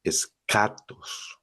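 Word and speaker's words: ἔσχατος: La gente a veces dice chatos, pero no en griego es escatos. que significa lo último, lo lo final. Y esto pues junto a logos, escatología, ¿no? Escatos, escatología, lo último, lo final.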